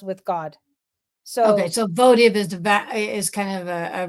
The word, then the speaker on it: votive: v t i v yes uhuh so it's pronounced votive which I didn't know okay it's pronounced votive and it means an object offered in fulfillment